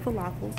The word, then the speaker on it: falafel: I've heard of falafels. It rhymes with waffles.